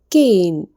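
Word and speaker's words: cane: അപ്പോൾ കെയിൻ. കെയിൻ. നോക്കൂ. കെയിൻ എന്നാണ് ഇത് ഉച്ചരിക്കേണ്ടത്. എ യും ഇയും. ആ ഒരു ഇ സൗണ്ട് നമ്മൾ ആദ്യത്തെ അക്ഷരത്തിന് കൊടുത്തു. എന്നിനആണെങ്കിൽ പ്രത്യേകിച്ച് ഒരു ഉച്ചാരണവും കൊടുക്കുന്നില്ല. അപ്പോൾ പറയൂ കെയിൻ കെയിൻ എന്നാണ് ഇത് വായിക്കേണ്ടത്.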